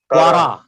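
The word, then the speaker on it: קרא: Hey is silent because hey is not acting as a consonant but as a vowel. It is a long vowel, so that's why we are saying quara.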